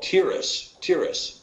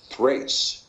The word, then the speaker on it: Tiras: of Yafet is called Tiras in the KJV, but it's actually better pronounced Thrace, because of the Tav having a TH sound rather than a Ta sound, Thrace.